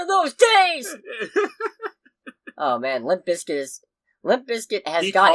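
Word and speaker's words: Limp Bizkit: pronounce Limp Biscuit yes okay you are supposed to say Limp Biscuit okay so you're supposed to pronounce it with the Z okay all right so then biscut Biscuit the emphasis on bis but yeah it's not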